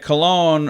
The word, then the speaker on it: cologne: I think it's interesting that cologne rhymes with alone.